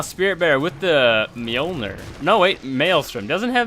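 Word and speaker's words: Mjollnir: bear with with the molner no wait Maelstrom doesn't have molner yet and yes it is pronounced molner unicorn EXO EXO hanging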